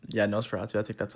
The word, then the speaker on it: Nosferatu: Starting at number 4, I got Nosferatu, or not, yeah, Nosferatu. I think that's how it's pronounced.